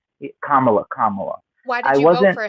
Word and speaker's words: Kamala: I whatever both could be true but I felt that's the type of energy that I felt from Camala. Kamala.